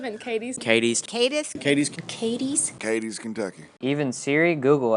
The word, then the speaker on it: Cadiz: But most of us who are from here pronounce it Cadiz.